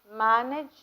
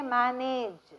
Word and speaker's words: manage: Look at the way I pronounce the word manage. Don't say manage, it is manage.